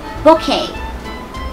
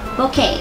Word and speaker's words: bouquet: ไ ง ดี อ่ า น ว่ า bouquet น ะ ค ะ bouquet ค ำ นี้ รู้ สึ ก ว่ า